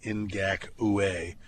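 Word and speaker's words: Ngakoue: what I think is I say it that way because that's how I got to remember to spell it n g a k o u in gaka we um I think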